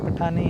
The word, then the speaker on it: پٹھان: بیٹا یونائٹی نہیں ہوتا، یونٹی ہوتا ہے، اور پٹھانی نہیں ہوتا، پٹھان ہوتا ہے.